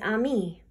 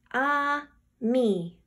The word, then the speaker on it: ami: say friend in french the word is ami my mom says you say it like this ah me i love french everything